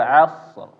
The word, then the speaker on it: asr: keliru tetapi misalnya tadi Wal asr asr ya tetap tapi di akhirnya ro tebal Wal asr asr asr